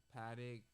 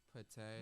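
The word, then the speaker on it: Patek Philippe: How you pronounce it? Patek, Patek.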